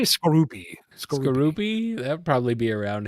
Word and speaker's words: Skorupi: Scoropie? Scoropy? I say Skorupi.